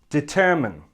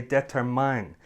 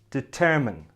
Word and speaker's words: determine: on the correct pronunciation this word has three syllables and the stress is on the second syllable and it should sound like this determine determine the last syllable